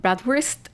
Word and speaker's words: Bratwurst: First of all, we're going to talk about bratwurst. I hope that I'm trying to pronounce that kind of correctly.